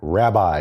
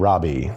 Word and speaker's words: rabbi: possessive pronoun letter so the word Robbie or Robby means my master or my teacher and in English we pronounce that word rabbi instead of Robby because the english-speaking peoples do terrible things with vowels I confess this